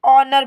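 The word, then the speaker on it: honour: यहां पर ध्यान दीजिए आपका एच लिखा जाएगा पर पढ़ा नहीं जाएगा क्योंकि आप इसे सिर्फ और सिर्फ ओनर पढ़ेंगे एज साइलेंट है ओनर का मतलब होता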